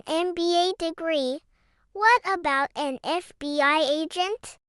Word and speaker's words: FBI: What about an FBI agent? F is a consonant, but we pronounce it F. That starts with a vowel sound, so it's an FBI agent.